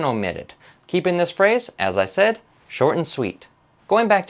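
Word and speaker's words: 一歳: this counter for example isai is how to say one years old rather than ichisai ichi meaning one sai meaning years old now this turns into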